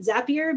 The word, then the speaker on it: Zapier: everyone who's wondering uh we pronounce it zapier because zapier makes you happier so let's take a